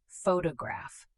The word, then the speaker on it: photograph: Photograph. The stress is on the first syllable.